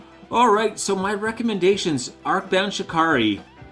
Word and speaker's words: Shikari: Arcbound Shikari. Am I saying it right? I always feel like I should say Shakira, but I know that's wrong.